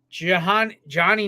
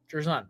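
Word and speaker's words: Jer'Zhan: So number 2, Johnny Newton out of Illinois, even though they pronounced it here on Pro Football Focus as Jarzon Newton. Jarzon. Okay, we're going with Jarzon.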